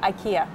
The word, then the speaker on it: IKEA: sorry sorry sorry so I think the how you say it depends on which country you're in to be honest in North America we say we say IKEA I see but in